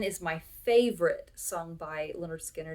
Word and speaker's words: Lynyrd Skynyrd: record leonard skynyrd and this is pronounced leonard skinner it is a fantastic